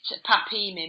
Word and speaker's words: PAPIMI: Yes, you pronounce it PAPIMI machine.